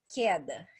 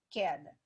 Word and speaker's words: queda: da apostila de vocês, tá escrito queda, que se escreve com QU, né? QU é queda. Mas o som dele, ó, que, é som de que, né? Que é o som do K, ó, queda.